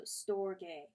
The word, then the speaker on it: storge: call this love story a two syllables and the G is hard so storge I shall here call